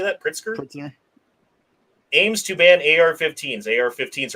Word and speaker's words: Pritzker: governor JB Prince how do you say that pritzker Ames to ban AR-15s AR-15s are not assault